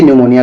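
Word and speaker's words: pneumonia: लोग जानते भी होंगे निमोनिया के पी से शुरू होता है ठीक है निमोनिया का स्पेलिंग पी से शुरू होता है पी एन ई यू एम ओ एन आई ए ये न्यूमोनिया का स्पेलिंग है न्यूमोनिया ठीक है चलिए प्रश्न क्रमांक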